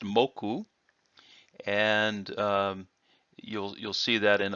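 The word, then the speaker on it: 目: In fact, it's pronounced moku, and you'll see that in other words.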